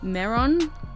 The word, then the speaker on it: Mehron: And this is by the brand Mehron, I think is how you say it, M-E-H-R-O-N, Tooth FX, just in the black colour.